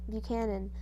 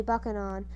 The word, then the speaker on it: Buchanan: the delegates finally chose james buchanan buchanan book pronounced by manny buccanon who was muscular white-haired